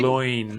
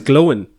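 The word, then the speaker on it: Glóin: Gloin as Gimli well. Star. yes. Yeah. I thought his name was Glowin No, Gloin. because it rhymes with Owen.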